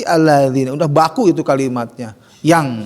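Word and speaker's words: الذي: Setiap alladzi, nah mungkin allazi ya, pasti alladzi.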